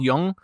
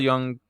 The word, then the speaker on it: Jung: He's talking about dream interpretation and quotes Carl Jung. And then, is that how you pronounce it? Jung? It Jung? is. Is it? Okay. Good. Jung.